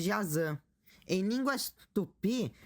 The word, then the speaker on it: Jaci: Uma curiosidade em línguas guaranis, o Y se pronuncia como ã, por isso tô chamando Jaci de Jazan.